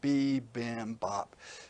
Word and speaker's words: bibimbap: And usually it's just written as one word, but I put the hyphens in, bibimbap, so you could see more easily how to say it.